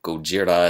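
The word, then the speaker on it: ゴジラ: of the original film Gojira a lot of people probably don't know this but the original Godzilla film or Gojira as I said earlier as it's pronounced in Japan was a much darker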